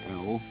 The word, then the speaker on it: El: The Lord in the Bible is in ancient religion El, and in English it's written E and then L, which is Eh and La, which is pronounced El.